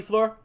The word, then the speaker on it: Fleur: And he knows his French, to an extent, for the name FLEUR. It's French, FLEUR.